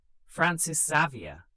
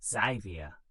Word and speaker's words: Francis Xavier: Francis Xavier, pronounced Xavier, a Jesuit priest, arrived in 1549.